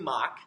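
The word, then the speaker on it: Mach: of the most widely discussed examples at CMU mock mock actually started out being called muck but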